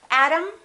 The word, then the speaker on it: atom: Let's look at one more word. Atom. Atom. Exactly the same pronunciation. This syllable is stressed. This syllable is stressed. This O is reduced. This A is reduced. Therefore, they are the same sound. And remember, T between two vowels sounds exactly like the D.